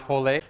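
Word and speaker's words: rolê: e in brazilian portuguese when there's an r in the beginning of the word in many in many cases it has an h sound and there's a little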